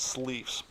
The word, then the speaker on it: Sleefs: a company out there called Sleeves. I hope I'm pronouncing that right. It's spelled Sleefs.